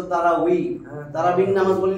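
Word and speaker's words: تراويح: আমরা তারাবি বলি, আসলে তো তারাউই, তারাবিন নামাজ বলি না, আমি বা বলি, বা তারাবি, তারাবি না তো, তানবিন না তো, তানবিন।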